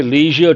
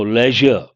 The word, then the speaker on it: leisure: Here people mispronounce, they say leisure time. No, leisure.